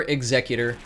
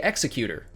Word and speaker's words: Executor: I prefer Executor, but some people say Executor. Both are technically correct pronunciations, and I won't get on your back if you don't get on mine.